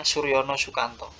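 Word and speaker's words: Soerjono Soekanto: Soekanto Suryono Soekanto ya jadi itu ejaan lama tulisannya Soerjono Tapi bacanya Suryono Sukanto Suryono Sukanto ini melihat bahwa yang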